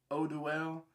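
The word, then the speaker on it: Eau Duelle: This right here, Eau Duel. I've been corrected by a few people. They told me that I was pronouncing it wrong, saying Eau Duel. It's Eau Duel. Just like Eau de Parfum.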